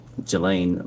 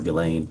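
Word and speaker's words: Ghislaine: Um, as best as we know, it's been public reported that in 2024, uh, Gilain Maxwell or Gileain, I think it's pronounced, arranged and wired $1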